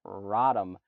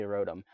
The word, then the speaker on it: Rotom: Rotom wash we've got rodham because my buddy Dave cannot pronounce the word Rotom for whatever reason he really thinks it should be Rodham it's definitely Rotom but we've got rhythm